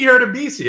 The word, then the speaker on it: Hurtubise: Jakey Hurtubise. How do you not know how to pronounce his name?